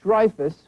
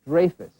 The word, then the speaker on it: Dreyfuss: who learned recently that for his entire life he has been mispronouncing his last name. Dreyfuss will next appear in the HBO movie Prisoner of Honor, based on the historic Dreyfus affair, spelled the same but pronounced differently, in which the man